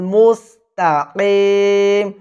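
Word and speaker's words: مستقيم: বলে ইহ বলা যাবে না এখানে বলবেন সিরাতাল মুস্তাকিম মুস্তাকিম মুস্তাকিম এখানে আমি কেন বললাম কারণ কফ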